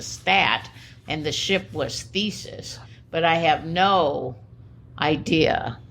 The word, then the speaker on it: Theseus: This is actually, I think it's pronounced Theseus. At least I always. Theseus.